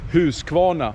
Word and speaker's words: Husqvarna: my Australian friend dkw125 we say who's kwona and for your friends down there Down Under here is where it all started who's come on now from 1689.